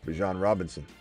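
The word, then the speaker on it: Bijan Robinson: Then I don't know, Jonathan, we're going to send you on a lap then because that's how you say his name, Bjan Robinson.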